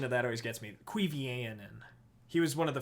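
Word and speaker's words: Cuiviénen: The pronunciation of that always gets me. Cuivianen.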